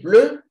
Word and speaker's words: pleut: Il pleut. It's raining. The tea is silent.